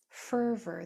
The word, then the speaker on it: further: Further, this first syllable is accented. Further, so this is an unacented or unstressed syllable. And when o r comes at the end of a word like that, it is usually unstressed. An unstressed o r sounds like an R. It just sounds like.